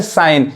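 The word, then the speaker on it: sign: इसको क्या पढ़ेंगे, साइन। सिग्न नहीं पढ़ेंगे।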